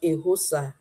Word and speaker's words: Eghosa: I know called I call him called Coach, the word I can pronounce without making mistake, but I pronounce I pronounce very Coach Ehosa.